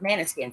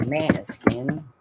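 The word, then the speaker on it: Måneskin: Um David of Manuskin. That's the way I pronounce it. I've heard it pronounced different ways. Depends on what language you're trying to pronounce it in.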